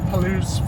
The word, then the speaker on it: Palouse: I think it's pronounced Palouse Falls.